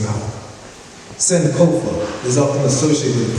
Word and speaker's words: Sankofa: Sankofa is pronounced Sankofa. It is a word in the Twi language of Ghana, meaning to retrieve, literally, go back and get.